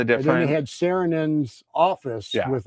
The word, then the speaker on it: Saarinen: It's Saarinen.